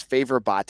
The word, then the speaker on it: Favor Bate: It looks like Favor Bate, which he actually was. I was told originally by a staff member that's how you say his name was Favor Bate until someone in his family was like, no, it's Bate.